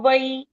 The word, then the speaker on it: वै: वे भी नहीं है, वै। वही बोलना है, वही। इट इज साउंडिंग लाइक पीछे य लगा दिया मैंने, है ना? नहीं, वो मात्रा का उच्चारण है, व के साथ ऐ, तो वही, इस तरह से। वै। मात्रा का उच्चारण है वो, ऐ मात्रा है ऊपर की, इसीलिए वही, व प्लस ऐ, वही।